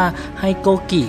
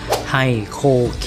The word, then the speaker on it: HiKOKI: สำหรับ แบรนด์ ไฮโคคิน เนี่ย หลาย ๆ คน จะ ออก เสียง ผิด นะ ครับ เพราะ ว่า บาง คน ก็ จะ อ่าน ประมาณ ว่า ให้ โกกิ หรือ เปล่า อะไร ประมาณ นี้ แต่ ที่ ถูก ต้อง ก็ คือ ให้ โคคิ นะ ครับ ออก เสียง กัน